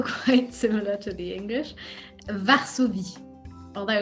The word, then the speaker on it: Varsovie: Varsovie, although it's spelled with a V and not a W.